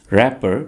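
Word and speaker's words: wrapper: है रैपर packing पेपर और यहां पर आपने डब्लू को साइलेंट रखना है ठीक है यह आप कहेंगे रैपर पैकिंग पेपर नीली रोशनाई यानी नीली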